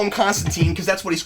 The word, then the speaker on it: Constantine: people and says that Constantine it rhymes with line and uh anytime when